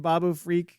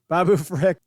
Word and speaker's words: Babu Frick: Could you imagine a little freaking Babu Freak, or Frick? I always say his name wrong. Babu Frick, the size of an Ithorian, like huge Babu Frick.